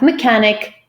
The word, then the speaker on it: mechanic: Very often they could be pronounced as k, as is the case with all the 6 words in this handout. So we have mechanic, chaos, archive, hierarchy, echo, and stomachache.